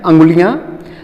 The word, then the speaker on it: अंगुलियां: दूसरा क्या है कि अब उंगलियों को लेते हैं। ठीक है, जब उंगलियां, इसका सही उच्चारण है अंगुलियां, जब अंगुलियां परिपक्व हो